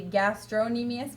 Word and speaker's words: gastrocnemius: is the the gastrocnemius I call it the gastro nimi s because the P is supposed to be silent but in order to spell it correctly most people call it the gastrocnemius there's a fee in the middle of their Hey so